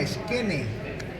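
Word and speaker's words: Skene: Se llama esquene. Esquene, se escribe así, S-K-E-N, esquene. Esquene. E-N-E, esquene.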